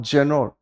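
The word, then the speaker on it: genre: इसकी जनर, इसको प्रोनाउंसिएशन ध्यान रखेंगे, इट्स कॉल्ड जनर, ठीक है ना?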